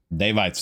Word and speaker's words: Daevites: The Daevites, not sure what it's pronounced, but we'll find out here momentarily. Bada boom, bada bing. The Daevites. Daevites, there it is.